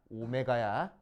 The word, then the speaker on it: 오메가: w 아니야, 오메가야. 알 w는 이게 w고 둥글둥글한 건 오메가야.